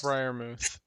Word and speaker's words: Freiermuth: Pat Freiermuth or something like that. Freiermuth. Yeah. Tyler, you're muted. Oh, never mind. Okay, yeah. How do you say it again? Pat Freiermuth.